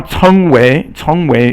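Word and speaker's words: 成为: Now 成为 is to become. So that's second tone. Both characters are second tone.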